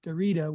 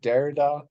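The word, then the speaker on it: Derrida: in the world for Dorita which to me is just appropriate in a number of ways isn't it pronounced derida oh probably I don't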